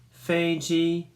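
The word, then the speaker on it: 飞机: words and how to say it it says Fei Jie Fei Jie okay now I have some words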